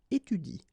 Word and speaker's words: étudie: to pronounce it correctly, you should pronounce it like il étudie. Okay, so the last thing that you will pronounce will be the vowel I here. Okay, il étudie. You don't pronounce this here.